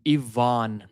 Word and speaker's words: Ivan: It's always a double A. Ivan.